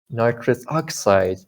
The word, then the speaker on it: nitrous oxide: Nitrous oxide. The stress, the prime minister on oxide. Nitrous oxide, not nitrous oxide, not that, right? Nitrous oxide, it's like that.